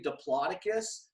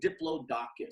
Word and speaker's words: Diplodocus: Some people say Diplodocus, some say Diplodocus.